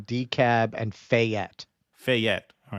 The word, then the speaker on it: Fayette: So Fayette, with the emphasis on the second syllable, Fayette. they're saying.